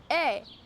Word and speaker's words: eh: A. It's spelled E-H, and you tack it on the end of your sentence for reassurance.